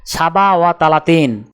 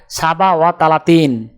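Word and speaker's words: سبعة وثلاثون: আরবি ক্রমিক সংখ্যা 37 দেখতে এরকম, উচ্চারণ হবে সাবা ওয়া তালাতিন। তাহলে 37 ক্রমিক সংখ্যাটির আরবি উচ্চারণ হবে সাবা ওয়া তালাতিন।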